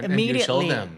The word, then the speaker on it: immediately: จะก็ it's your turn to correct people ว่ามันคือ immediately ใช่แล้วเด็กก็บอกเนี่ยหนูชอบมากที่หนูได้เรียนคอร์สนี้กับครูตอนที่ในปี3ปี4อะไรเงี้ยมันก็ได้ใช้จริงอาจจะช้าไปนิดนึงว่าคนอื่นเขาอ่าน immediately กันไปแล้วอย่างเงี้ยอะไรอย่างเงี้ยใช่ไหมคะ Is that what you enjoy teaching the most?